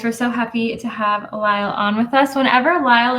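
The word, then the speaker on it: Lysle: to Lyle uh I'm Lyle spelled l Ys l e but the S is silent um and I'm the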